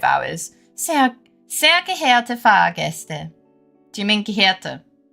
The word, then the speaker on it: geehrte: Sehr geehrte Fahrgäste. Do you mean geehrte? Wait, am I pronouncing it wrong?